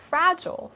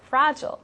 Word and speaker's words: fragile: it away and now fragile um could be pronounced two different ways in them in america or in in the american accent we like to say fragile fragile but in the british